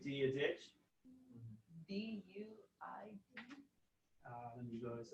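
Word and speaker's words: Dia dhuit: So dia ditch. Oh, yeah, like the name. Yeah. Oh, I was expecting to see an H somewhere. Yeah, the pronunciation is quite strange.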